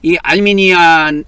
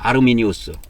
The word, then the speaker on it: 아르미니우스: 그래서이 칼빈, 알미니안이 알미니안 알미니안을 그이 라틴식으로 하면은 아르미니오스라 그래요. 아르미니우스.